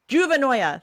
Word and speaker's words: Juvenoia: Did you watch this video on Juvenovia? Yeah, I did. Did I say it right? I think so. It was great. Juvenovia? I don't know. It's like paranoia, but with juvenile in the beginning. Juvenoia.